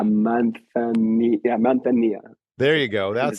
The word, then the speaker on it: manzanilla: So like a mentilla, or I said that wrong. A manzanilla.